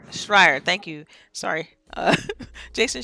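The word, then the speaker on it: Schreier: Jason I see I think it's how you pronounce his name mm-hmm I think there's a strike Schreyer thank you sorry Jason Schreyer he announced it on his Twitter feed that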